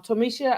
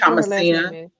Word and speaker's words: Thomasina: Um Tomisha, I did get your email. Oh, I said your name wrong, but Miss uh Thompson, I believe. That's Thomasina. It was Thomasina. I have your email address,